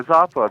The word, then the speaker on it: Izapa: John, what is the importance of the site called I believe it's pronounced Izapa? Yeah. Yeah, Izapa.